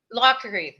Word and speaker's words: Lockery: How do you pronounce her last name? Lockery? Lockery. Okay. Lockery, yeah.